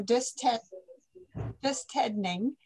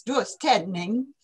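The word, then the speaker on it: döstädning: And if you're from Uppsala or Göteborg and you have the singing voice, it's dus Ted-ning. They like to put an emphasis into each syllable with a lot of energy. So it takes energy to death clean.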